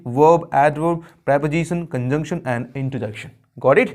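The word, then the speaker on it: interjection: यहाँ पे इसमें भी आर थोड़ा साइलेंटली है, बोले तो इसको इतना तेजी से रैपिडली से हम बोल देते हैं, इसमें आर की थोड़ी सी वैल्यू खो जाती है, इसको हम बोलते हैं इंटरजेक्शन।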